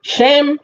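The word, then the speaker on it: שֵׁם: right like i said there's a difference between sean and shem they're spelled shin and mem so feet however the context will tell you if it's going to be pronounced sham or whether it's going to be pronounced sham right right and that can have a big bearing on how we interpret the text correct absolutely because shem means name and sham means their t-h-e-r-e so this means i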